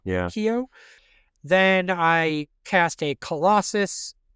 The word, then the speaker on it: Keough: I think it's Keough, yeah. Keough.